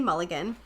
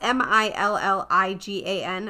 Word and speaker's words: Milligan: So the inspiration was a man named Billy Mulligan, or Milligan. It's Milligan.